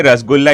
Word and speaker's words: Rasgulla: Well, Santwana, I'll say Rasgulla is a right pronunciation, but you disagree, I know that.